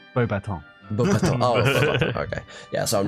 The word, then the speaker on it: Beauxbatons: No, you're close, but it's French, so it's Beauxbatons.